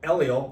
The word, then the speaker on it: Eliel: to do mhm yeah so elel I mean that's the pronunciation everyone ask like how do you how do you say is it l e l is it is it Al is it you know l l where's the accent yeah where's the accent